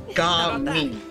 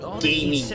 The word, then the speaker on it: Jia Ming: I'm the best wuxia dancer in the Secure Transport Agency, and so the busiest guard it's pronounced as Jia Ming, so not gaming. It's Jia Ming.